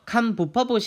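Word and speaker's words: คำบุพบท: 전치사 에 관해서 는 " 감부 파봇 " 이라 고 읽습니다 . 어 , 제 가 'bieup' 을 잘못 썼는데 , " 감부 파봇 " 이라 고 읽으시면 됩니다 . 감부 파봇 .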